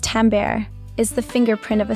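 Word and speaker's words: timbre: same volume in is timber tambber. The bo is silent pronounced tambber is the fingerprint of a sound.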